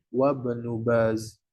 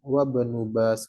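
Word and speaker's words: وابن باز: hamzahnya adalah Hamzah wasal ketika disebuttin pertama kali maka dibaca Ibnu Ibnu Baz jangan di di tengah-tengah maka tidak dibaca hamzahnya langsung ke wabnub Baz langsung wabenubas gitu ya jadi itu Hamzah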